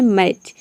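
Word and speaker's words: match: मैच में आप देख रहे हैं कि टी सी एच एक साथ आ रहा है, यहाँ पे एम ए सी एच को हम प्रोनाउंस करते हैं तभी इसका प्रोनाउंसिएशन होता है मैच, क्योंकि यहाँ पे हम टी को प्रोनाउंस नहीं करते हैं।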